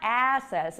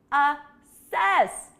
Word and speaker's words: assess: up or away try assess careful with the pronunciation here we want the stress on the second syllable it's not assess it's assess assess do you hear